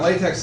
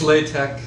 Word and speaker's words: LaTeX: And I mean, the thing about LaTeX is it's designed for like formatting your thesis. Excuse and I me, just want to. it's LaTeX. Just LaTeX. Oh, I'm sorry. Yeah, well, here I've been mispronouncing it.